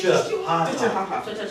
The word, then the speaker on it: Chihuahua: they say Chihuahua.